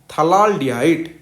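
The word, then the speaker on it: phthalaldehyde: उसके बाद यह देखो थला डिहाइड इसमें पी एच साइलेंट होता है तो इसको क्या प्रोनाउंस करते हैं थला डिहाइड या फिर बेंजीन नटू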